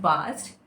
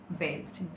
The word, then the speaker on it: bathed: Actually, it's not bast. She's right. Bathed. It's the pronunciation of it is bathed.